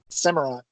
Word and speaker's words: Samurott: And Samurot's, how do you say its name? Samurott.